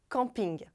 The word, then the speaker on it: camping: Mais uma vez, a sílaba forte é a última, assim como nos outros casos que acabamos de ver. Já em inglês, é algo parecido com camping.